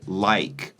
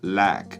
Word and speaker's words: like: In my pronunciation and RP, we say like. We have a diphthong, so the I is Ike. It's two vowel sounds in a singular syllable. That's what a diphthong is. But he doesn't say like, he says lack with a singular vowel sound.